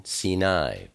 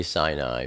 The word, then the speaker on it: Sinai: of shik Zid in sini and I know many people say Sinai but I use the ancient pronunciation so just be aware